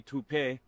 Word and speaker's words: taupe: Say it right. That's to o p. That's taupe. Oh, it's taupe.